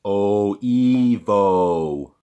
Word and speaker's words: Oevo: thought he was lactose intolerant almond milk it's pronounced Oh Evo oh thanks hey how you doing today yeah